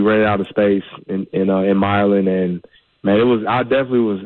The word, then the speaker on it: Milan: All right, so you pronounce it Milan. It's not Milan.